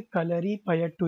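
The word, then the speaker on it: Kalaripayattu: Kerala's martial art form कलरीपयट्टू, okay, कलरीपयट्टू इज the pronunciation, and the practice of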